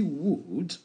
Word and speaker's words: would: Donc ici, would, vous prononcez comme ça, you would. Vous voyez, le L qui est ici, il faut l'ignorer, il ne faut pas l'articuler. Donc, you would be.